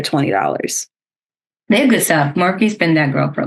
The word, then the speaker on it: Morphe: It's by Morph. I think that's how you say it. Morph. There might be an E on the end. Morphe. Yeah. Morphe. Yes.